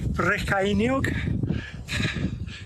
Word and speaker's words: Brycheiniog: How do I remember Brycheiniog? Because it rhymes with Michael Cainiog.